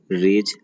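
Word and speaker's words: raise: आज का पहला है रेज, RAIAC और फिर RAZD रेज। दोनों का उच्चारण एक ही होता है, रेज होता है।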